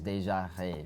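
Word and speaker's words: Déjà Rêve: I'm not French, but all my French friends who told me how to actually pronounce it is Deja Rêve.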